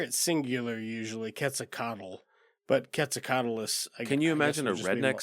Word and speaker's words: Quetzalcoatlus: Quetzalcoatlus? Wow. Is there an S on the end? Yeah, on this. Yeah. Okay, I was like, I hear it singular usually, Quetzalcoatl. But Quetzalcoatlus.